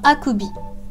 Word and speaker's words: akubi: Donc, akubi. 3 syllabes. Akubi. Akubi.